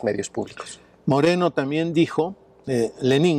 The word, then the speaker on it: Lenín: Moreno también dijo, Lenín Moreno, y hay que enfatizar el acento en la I para diferenciarlo, ¿no?